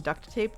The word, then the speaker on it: duct tape: I also want to say I appreciate you pronouncing the T in duct tape.